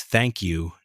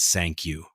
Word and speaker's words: thank you: It's thank you, not sank you. You've got to make the th sound C.